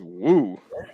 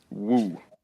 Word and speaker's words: Weauxx: Yeah, my TikTok is Woo, WEAUXX. That's how you pronounce it. Woo.